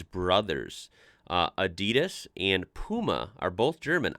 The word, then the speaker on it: Adidas: were referring to because they usually pronounce it Adidas. And in Germany, we say Adidas. Wow. Adidas, Adidas. Super different.